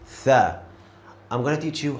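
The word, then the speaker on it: ث: Tha. I'm gonna teach you how you can pronounce this letter correctly. So look at my mouse. When I say this letter, my tongue goes to the front teeth.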